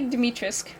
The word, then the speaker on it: Dimitrescu: to change right so lady dimitrisk i think is how you say her name i know i know you don't pronounce the you demetrius so she has